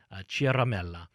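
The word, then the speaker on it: Ciaramella: let's see this Eric Chiara melih he's an Italians will say that we'll use the Italian pronunciation Chiara Mela apparently he's a registered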